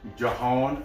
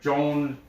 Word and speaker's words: Jhon: Koln, they have a guy, John, I think it's Jahan, or it's spelled Jhon. He's Colombian. It's like Joan Cordoba.